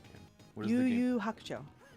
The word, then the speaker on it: Yu Yu Hakusho: You can pronounce the title better than I can. What is the game? Yu Yu Hakusho. Yu Yu Hakusho.